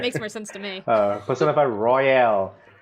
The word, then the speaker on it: Persona 5 Royal: Persona 5 Royal. That's what I've been playing. I keep wanting to say Persona 5 Royale for some reason. I just but it's Royal. It's spelled without the E.